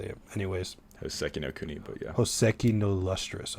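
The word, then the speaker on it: Hōseki no Kuni: Hisoki no Kuni. I'm going to say it. I forgot how to say it. Anyways. Hoseki no Kuni, but yeah.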